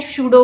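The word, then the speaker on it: pseudo: तो इसको कहा जाता है शूडो फोर्स, या पी साइलेंट है, आप इसको बोलोगे शूडो फोर्स।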